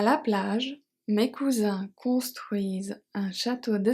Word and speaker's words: construisent: So here ENT is always silent at the end, so we pronounce the S as a Z. It's another story. So mes cousins construisent, construisent.